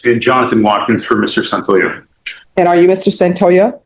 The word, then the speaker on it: Santoyo: Santoyo. Santoyo. Yes, ma'am. Okay. I think it rhymes with yo-yo.